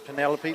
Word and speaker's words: Penelope: I think Pendelope had, or Penelope, if that's how you say it, just decided to go on the first one. So it is Penelope, like Penelope Pit Stop, the old cartoon.